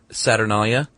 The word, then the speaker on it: Saturnalia: But in Rome, they celebrated the uh pretty rockous festival called the Saturnalia from December 17th to 24th. Is that not how you pronounce it? No, it is.